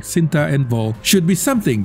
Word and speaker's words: Cinta: In many Southeast Asian Malay and Malay adjacent culture, it is pronounced with a hard C, Cinta, which means love.